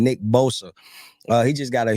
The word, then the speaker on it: Bosa: that um for the San Francisco 49ers Nick Bosca just got a huge raise I'm sorry I butchered his name Nick Bosa uh he just got a huge rage man